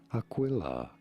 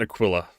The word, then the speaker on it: Aquila: Yes, but I pronounce it Aquila. Because I pronounce the Q. Google the phonetic spelling for Aquila. Aquila. Aquila. Rhymes, Lila, simplification, Aquila. Aquila. Etymology from Latin.